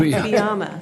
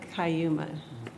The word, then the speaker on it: Cuyama: And we also learned how to pronounce Cuyama, right? Cuyama. Cuyama, not Cayuma.